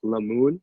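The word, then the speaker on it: Lamun: never forget his name it's la moon it's called it's spelled l-a-m-u-n um and pretty much it had a selfie with him i signed it i'm like lemoon and chris and i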